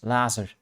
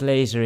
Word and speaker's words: laser: person reading it uh did not know how to pronounce laser so every time it was a science fiction book so every time they read it it was Lazar and it was quite